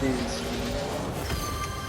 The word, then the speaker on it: Ys: Like the E series spell, it's called spelled YS, but it's pronounced E.